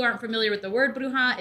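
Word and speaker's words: bruja: familiar with the word bruha it is spelled b r u j a s so the J makes that H sound and it's on the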